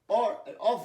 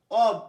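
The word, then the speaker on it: of: বলেছি আমরা, অফ, অন, অফ না, অব, উচ্চারণ হবে অ বি, বয় হসন্ত, অব, অব, অব। আমি প্রচণ্ড ভুল করতাম সারা জীবন, সেই জন্য বলেছি অব, অফ না।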